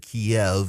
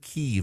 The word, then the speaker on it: Kyiv: For so long, we in the West said Kiev, and that was the Russian pronunciation for the capital of Ukraine. The Ukrainians said Kyiv, and much of the West has gone back to saying Kyiv in recognition of Ukrainian sovereignty.